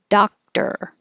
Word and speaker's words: doctor: Doctor. Looks like an O, sounds like an ah.